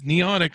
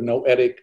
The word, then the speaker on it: noetic: nice introduction thank you what is neonic science sciences did i pre pronounce that right i'm sorry uh the institute of noetic sciences noetic uh founded by the late uh astronaut edgar mitchell no etic all right there you go